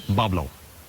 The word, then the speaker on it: Boblo: So sure enough, Boblo Island, Bois Blanc, is probably just a mispronunciation of the French, because it is difficult for English-speaking people for that French pronunciation of Bois Blanc. Pronounced it Boblo, but it's based on the basswood tree.